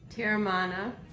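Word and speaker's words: Teremana: My personal favorite is pronounced Terramana.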